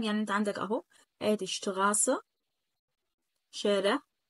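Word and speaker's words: Straße: يعني انت عندك اهو ادي شتغاسه شارع، اتنطقت هنا غين شتغاسه، ما ينفعش اقول شتراسه، ما ينفعش.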